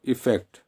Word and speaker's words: effect: अब E double F ई सी टी इफेक्ट, ठीक है, आप इसका प्रोनाउंसिएशन देखो, इफेक्ट, ये एज ए नाउन यूज़ करा जाता है मैक्सिमम।